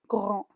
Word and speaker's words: grands: Pas comme les grands. Entonces ven que la D y la S al final no se pronuncia para nada.